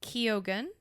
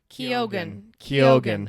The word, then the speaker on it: Keoghan: Wait, it's literally pronounced Keoghan. Hold on, wait. He says it. Keoghan.